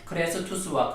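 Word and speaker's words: Χριστός: 그리스도 기름 부음을 받은 자, 이 그리스도의 헬라어 발음이 크리스투스입니다. 크레스투스이고요. 자비가 크레스테스입니다. 이 두 단어가 비슷하지 않습니까? 크레스투스와 크레스테스, 이 두 단어가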